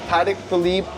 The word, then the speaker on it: Patek Philippe: So this is a Patek. Am I pronouncing that correctly? yeah, Patek Philippe Aquanaut reference 5167A.